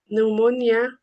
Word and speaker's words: pneumonia: We also have words with silent P. Uh for example, in our patients with N, S and T. As examples we have um pneumonia, pneumatic, cabort, psychologist, psychotherapy etc.